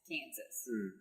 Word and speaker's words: Kansas: So naturally, we pronounce the final S, Kansas. The French, however, do not.